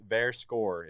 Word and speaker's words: Verscore: Verscore is the correct way to say it.